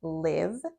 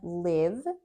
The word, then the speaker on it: live: But the other pronunciation of this word is live with the long i sound.